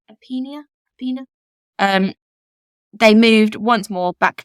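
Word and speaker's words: Irpinia: But after their home was destroyed by the 1930 Irpina earthquake, I believe is how you pronounce it, Irpina.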